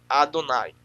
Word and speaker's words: Adonai: 133 vezes substitui o termo Adonai, lembrando que a pronúncia se ler da direita para a esquerda é Adonai. E o Aleph não tem som, mas é apenas para aí compor a palavra Adonai.